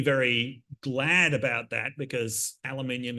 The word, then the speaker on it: aluminium: glad about that because aluminium is pronounced aluminum in the United States so we would have